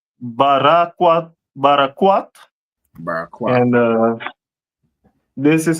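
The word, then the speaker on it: ברקת: Carbuncle, which in the Hebrew is barakwat.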